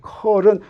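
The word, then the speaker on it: curl: 요거 각 좌표계에서 어떻게 대표되는지 우리가 나중에 필요할 때 다시 하겠지만, 요거는 뭐라고 읽냐면 컬이라고 읽어요. 컬은 요거 뺑뺑 돌린다라고 하는 뜻이에요.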